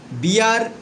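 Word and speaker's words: beer: এই B double E আর বিয়ার এর উচ্চারণ হচ্ছে বিয়া।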